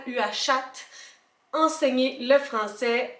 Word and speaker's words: Uashat: Je viens de le regarder puis j'ai tout le temps le goût de rajouter une coupe de syllabes, Uashat, ouais c'est ça, U-A-S-H-A-T, Uashat.